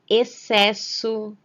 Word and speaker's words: excesso: Nessas palavras, o X aparece seguido da letra C. Porém, ao ler, repetir e pronunciar essas palavras, só conseguimos perceber o som da letra C. Nesses casos, o X não tem nenhum valor fonético, ou seja, ele não apresenta nenhum som.